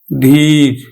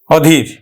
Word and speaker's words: অধীর: তাহলে আমরা উচ্চারণ করব কিন্তু অসীম অসীম তারপরে অধীর ধীর নয় অধীর তাহলে নেতিবাচক অর্থ প্রকাশ করছে এজন্য কিন্তু আমার অটা ওয় এর মতই উচ্চারণ হবে অধীর অধীর কিন্তু শিক্ষার্থী বন্ধুরা যদি নাম অর্থ প্রকাশ করে